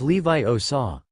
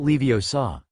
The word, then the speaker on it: Wingardium Leviosa: It's Levi Osaw, not Leo Saw.